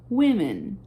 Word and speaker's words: women: A pronúncia muda. Woman, women, tá? Troca só o A pelo E.